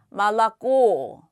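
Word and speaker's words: молоко: 오로 읽으셔야 되겠죠 얘 써 있기는 몰로 고라고 써 있지만 어떻게 읽는다 말랐고 말랐고 말랐고 예 아나는 그녀 쉬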